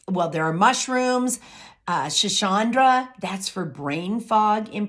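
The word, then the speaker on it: schisandra: there are mushrooms uh shachandra that's for brain fog in particular that's actually spelled s-c-h-i-s-a-n-d-r-a and she pronounced it shachandra and then rhodiola maca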